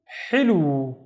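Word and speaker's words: حلو: The first syllable is basically hi. The wave with no dots, so it's running out of breath. Ha. With a kasra, it becomes hi, hi. The second syllable is lu with a waw to make it twice as long, so it's lu, hilu.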